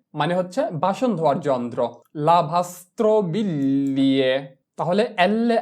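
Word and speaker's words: lavastoviglie: যদি আমাদের শব্দের মধ্যে জি এল ই পাশাপাশি থাকে তাহলে আমরা জি কে এল ধরে উচ্চারণ করব, কিন্তু এল এর সাউন্ডটা হবে অর্ধেক বা হালকা।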